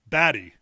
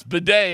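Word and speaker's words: Badie: He pulled a Tyler Baddy. He did. He did. It's Bedet. Everybody, come on now.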